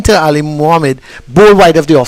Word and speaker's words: Ali Mohammed: But you want to tell, the first thing you need to do is let Ali Mohammed know that is that the correct pronunciation? Yes, Ali Mohammed.